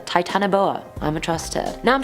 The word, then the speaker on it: titanoboa: 10 is the titanoboa now there were so many pronunciations to this one i was like what do i choose but then charlotte over on io it said it was like that summer trust her titanoboa i'm a truster now